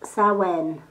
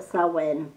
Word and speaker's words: Samhain: so when yep it's built samhain but it's pronounced sarwen we call it sarwen and it's a witch's new year so um